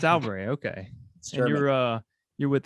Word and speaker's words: Sauerbrey: how do you say your last name it's alberta okay you're uh you're with the coffee republican